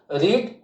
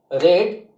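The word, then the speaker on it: read: हम बनाते हैं, तो रीड का सेकंड फॉर्म की स्पेलिंग भी वही होती है, और थर्ड फॉर्म भी वही होती है, लेकिन प्रोनाउंसिएशन यानी कि उच्चारण अलग हो जाता है। रीड, रेड, रेड, ठीक है।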